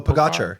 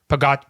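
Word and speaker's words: Pogačar: Like you wrote this great piece about, I'm gonna not pronounce his name right, but Pogacar. Oh, Pogacar. How do you say it? Yeah, Pogacar. Tadej Pogacar.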